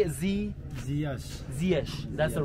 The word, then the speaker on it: Ziyech: Ziyech.